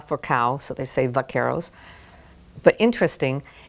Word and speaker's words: vaqueros: Cowboys come together the Vaqueros the Spanish is vaca for cow so they save Vaqueros but interesting they would pronounce it with the Castilian vaca buck Errol later on